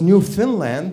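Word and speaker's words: Newfoundland: And that's when I got pissed at Canadians because you say it as New Finland whereas it is new found land.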